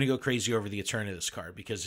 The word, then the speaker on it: Eternatus: No, I would say like eternity. So Eternatus.